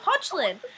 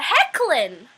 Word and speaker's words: Hoechlin: It's like when I found out that Tyler Hoechlin's name isn't actually Tyler Hoechlin. It's Tyler Hecklin.